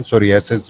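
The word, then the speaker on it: Psoriasis: सोरियासिस, very good. सोरियासिस is about skin, PSORA, हाँ POS नहीं, PSO से लिखते हैं, पी साइलेंट है.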